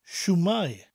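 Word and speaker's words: shwmae: way of saying hello imagine that I am holding a shoe a shoe that I have just taken off my foot it's my shoe my shoe it's not your shoe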